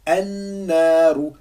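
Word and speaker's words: النار: Ça fait Annaru, Annaru. Donc j'appuie bien. An-naru. Donc, je l'écris de cette manière-là et je le prononce de cette manière-là. An-naru.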